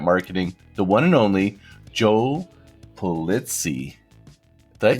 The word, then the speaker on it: Pulizzi: godfather of content marketing the one and only joe plitzy that pronounced the name said that perfectly how did